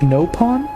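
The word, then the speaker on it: Nopon: conversation along all right you pronounce it no pawn over here we say it with a short vowel are the creatures themselves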